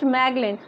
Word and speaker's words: Magellan: So around 500 years ago, Ferdinand Magellan, pronounced Magellan, a Portuguese sailor, started